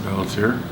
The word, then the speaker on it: Pelletier: Okay, can you tell me your name and spell it? Hi, my name is Pelletier, Pelletier, P as in Paul, E-L-L-E, T as in Tom, I-E-R.